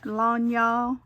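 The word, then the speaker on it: lagniappe: too, or a little lanya is, I think that's how you say it, Carrie, is that right? Means a little extra. I learned that from her, a Cajun word.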